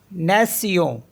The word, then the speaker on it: nation: NATION, इसे पढ़ेंगे नेसियों, नेसियों means होता है नेशन। और नेक्स्ट वर्ड है PRONONCIATION, तो PRO को पढ़ेंगे प्रो, प्रो, NON